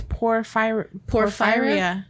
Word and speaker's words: Porphyria: No, it's Porphyria.